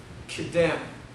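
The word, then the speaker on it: קֶדֶם: The word east, the word in Hebrew is kedem, Q-E-D-E-M. You may pronounce it differently, that's fine with me.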